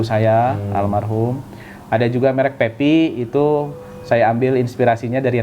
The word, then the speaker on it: PEPY: Coba tulis PEPY. Pepi kan gitu. Pemahaman saya kan dibacanya Pepe karena PEPY kan.